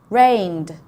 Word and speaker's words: rained: Rained. Okay, rained is the D sound at the end.